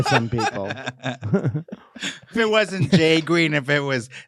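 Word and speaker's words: JGRXXN: crash with them yeah and a guy named jay green spelled j g r x x n pronounced j green he says that he heard the first four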